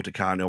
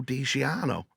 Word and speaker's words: Di Canio: And I had to guess Paolo Di Canio while the fire drill was going off. And because he was filling it, I went, Paolo Di Ciano. And it's still to this day, I pronounce Di Ciano as Di Canio.